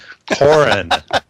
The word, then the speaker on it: Coughran: Coughran. I keep wanting to throw the GH in there. I don't know why. It's silent. It's silent. The GH is silent. And the U is silent.